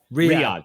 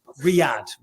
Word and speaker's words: Riyadh: out there for tourism for, I think it's pronounced Riyadh season or Riyadh season. Riyadh.